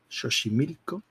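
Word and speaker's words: Xochimilco: la excan platan vale la x se pronuncia como sh Vale entonces es tascala shoshi milco etcétera etcétera etcétera Esto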